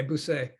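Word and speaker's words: busqué: Okay, busque. Yeah, because when the C is followed by an E or an I, it makes an S sound.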